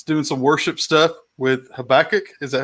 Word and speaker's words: Habakkuk: down here it's doing some worship stuff with Habakkuk is that how you say it yeah so